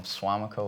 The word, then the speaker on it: Suamico: got your start in tennis um I'm from suamico Wisconsin I'm Nicole um it's a suburb of